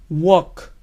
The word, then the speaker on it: walk: asq mirar what block caminar wok wok recuerden la l no se pronuncia en esta palabra wok ahora se añadimos la